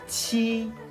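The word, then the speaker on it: 七: Chi, chi. Số này chúng ta cần phải bật mạnh hơi ra.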